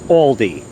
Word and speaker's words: Aldi: want to pronounce it here in the us it's pronounced aldi they had this on